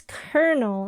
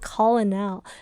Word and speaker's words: colonel: dawn Warrior say well it's kernel it's not Colonel see you would think it's pronounced Colonel but why is it pronounced kernel English is so weird